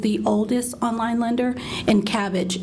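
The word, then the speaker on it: Kabbage: oldest online lender and cabbage is spelled with a K so um those are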